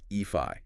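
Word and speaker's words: Aoife: me more we'll take EO for instance AO pronounced eii yeah it means Beauty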